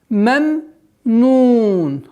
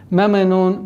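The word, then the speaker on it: ممنون: Вот здесь нужно на втором произношении звука мим нужно не торопиться, потому что торопливость в этом моменте переходит в калькаля. Меменун, меме, а нужно спокойно. Мемнун, мемнун. Договорить звук второго мима с сукуном.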